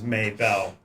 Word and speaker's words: Mabel: She pronounces it as Maybell, which kind of fits with the southern drawl she speaks with.